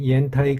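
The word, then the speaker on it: 烟台: 소비자에게 편안하게 다가왔듯이 말입니다 연택고량주의 중국식 발음 옌타이 군양 우리가 아는 고량 가오량과는 완전히 다릅니다 물론 연태 고량주도 고량 즉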